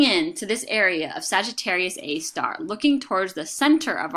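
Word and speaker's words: Sagittarius A*: arias a star that's how you say it Sagittarius a star is a radio source of the center of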